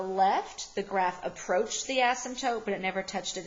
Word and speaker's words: asymptotes: weird but that P is silent so we pronounce this asymptotes ok vertical asymptotes are the imaginary line that